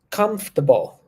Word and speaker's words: comfortable: correctly cool please repeat comfortable comfortable yeah comfortable that's where we are comfortable comfortable good comfortable that's it comfortable uh we're not pronouncing the the letter A there pay attention we don't